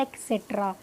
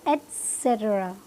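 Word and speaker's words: et cetera: ना ये एक्सेट्रा है ना एक्सेट्रा है। अब इसकी जो करेक्ट प्रोनाउंसिएशन क्या है, एटसेट्रा, एटसेट्रा। आप ऐसे भी बोल सकते हैं एटसेट्रा, बट इट इज़ नॉट एक्सेट्रा। कौनी एटसेट्रा, ET लिखा हुआ है तो एटसेट्रा।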